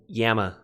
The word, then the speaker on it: gamma: For example, gamma. They, I believe, pronounce it yamma, like a Y.